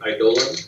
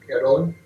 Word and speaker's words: Eidolon: She mentioned she pronounces the Eidolon. Yeah, Eidolon.